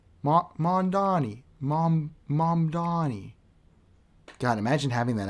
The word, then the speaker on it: Mamdani: Mr. Elu says Mandani. That's a pronunciation I haven't heard yet.